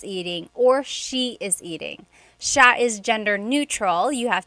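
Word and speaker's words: siya: uh just about pronunciation it's Sha Sha the SI i y combination makes that sh sha sound it looks like it should be pronounced CA there are some regions in the Philippines I believe that say ca but usually in the Central Luzon area it's pronounced Sha Sha then there's Sila they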